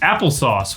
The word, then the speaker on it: Apple SOS: see what it says pronounced applesauce what apple sauce they they okay here's